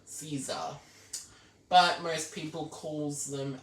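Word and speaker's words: SZA: bill by s z but it's actually pronounced Caesar but most people calls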